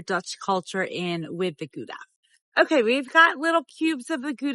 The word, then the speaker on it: Gouda: G is for Gouda, or Gouda as it's actually pronounced.